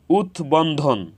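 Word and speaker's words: উদ্বন্ধন: বফলার উচ্চারণ অবিকৃত হয়েছে উৎ বন্ধন উৎ বন্ধন এখানে উৎ এর সাথে বফলা যুক্ত হয়েছে এজন্য বফলার উচ্চারণ অবিকৃত হয়েছে উৎ বাস্তু এখানে উৎ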